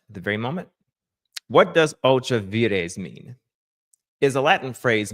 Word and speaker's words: ultra vires: Ultra vires. Okay. There, Mr. President. Ultra vires. All right. If you want to pronounce it correctly in the Latin vulgar.